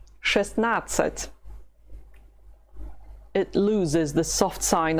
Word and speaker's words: шестнадцать: Шестнадцать. Шестнадцать. It loses the soft sign of шесть, and you do not pronounce the letter there in the middle of the word. Шестнадцать.